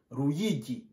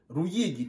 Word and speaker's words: Ruyigi: On prononce Ruyigi. On prononce Ruyigi.